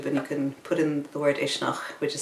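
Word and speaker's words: Uisneach: as a fire Festival in a place called ishnach which is right at the center of Ireland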